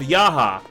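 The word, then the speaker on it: Jaha: of course talking about the fact that the pronunciation of yaha all rightio the character is spelled j a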